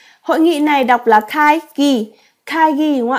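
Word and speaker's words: 会議: trong nghĩa là hội nghị hội nghị này đọc là khai ghi khai ghi đúng không ạ ạ giám đốc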